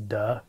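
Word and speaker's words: 德: early Chinese call unfortunately the Mandarin pronunciation is duh which sounds kind of funny but it's uh often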